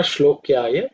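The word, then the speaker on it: श्लोक्याय: So I Nama Shlokyaya Chavasanyaya Cha. In terms of pronunciation, it should be pretty simple. Shlokya, it's Sha is that not cerebral one, it's palatal Sha.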